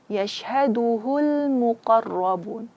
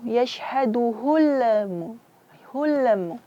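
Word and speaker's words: يَشْهَدُهُ: Yashhaduhul muqarrabun. Kesalahan yang terjadi juga di sini itu yashhaduhul hulmu. Di sini seperti dipantulkan. Sebenarnya di sini tidak ada huruf qalqalah, huruf yang harus dipantulkan. Bacanya balikan dia bainiyah huruf lam tadi.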